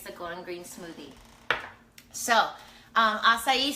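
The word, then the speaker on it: açaí: So Tracy, it's spelled A-C-I, A-C-A-I, acai. And a lot of people pronounce it acai, but it's actually acai.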